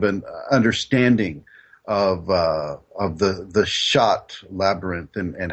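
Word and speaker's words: Chartres: let's just use the labyrinth that shot which is also it's spelled CH a TR es in in shot France what one does is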